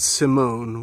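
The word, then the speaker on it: S1m0ne: I watched LX 2048, Warning, and Simone, which is spelt kind of weird, like how Megan is, with the E as a three backward and all that. It's Sim One.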